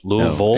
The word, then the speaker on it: Louisville: And I'm I'm told there's a proper way to say it's not Louisville, right, Jeeoff? It's Louisville.